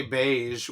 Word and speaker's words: beige: I mean, I am also American, and I am Southern, and I say beige with a soft G, not a fucking hard G.